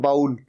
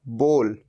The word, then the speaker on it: bowl: अच्छा, आप में से कई इसे गलत भी प्रोनाउंस करते हैं, कहते हैं बाउल। बाउल नहीं, सही प्रोनाउंसिएशन है बोल। जैसे हम किसी को कहो बोल, क्या बोलता है बोल, तो ये बोल, ये है इसकी सही प्रोनाउंसिएशन।